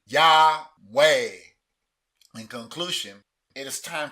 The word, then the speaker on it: Yahweh: Patak, A as in bat. Shiwa is silent, and Sigol, E as in better. Whereas when you pronounce the consonants with these vowels, you get the name Yahweh.